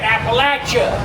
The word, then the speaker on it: Appalachia: Appalachia.